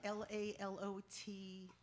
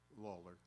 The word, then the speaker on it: Lalor: Is it Lalot? That's an R. Lalor? Lawler. Lawler.